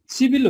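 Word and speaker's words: 십일: Okay ल, अब यसलाई सिप इललाई चाहिँ हामीले उच्चारण गर्दाखेरि चाहिँ सिभिल गर्नुपर्छ है, सिभिल। किनभने यो ब चाहिँ पछाडिको भवेलसँग जोडेर चाहिँ उच्चारण हुन जान्छ।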